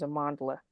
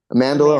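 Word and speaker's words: Amandla: way I think her I think the pronunciation is Amanda what am I saying am amandela Amanda okay sorry amandela amandela amandela thank you um so yeah I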